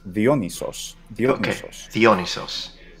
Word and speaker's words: Dionysos: Just so the Y that we have in our word is just an E sound, and of course the delta is mm-hmm. this. And but in the Attic pronunciation, it's Dionysos. And it's long too. Dionysos. That's a sound I would normally associate with either Germanic languages or sort of Romance languages that pretend to be Germanic, like French.